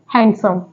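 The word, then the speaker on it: handsome: यहां पर भी डी साइलेंट है इसको क्या प्रोनाउंस करेंगे हैंडसम यहां पर भी डी साइलेंट है इसको क्या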